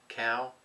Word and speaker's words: Kal: by the way of, not sure how you pronounce it, because I'm thinking it's Kal, that's K-A-L, Shaves, and he's on Instagram.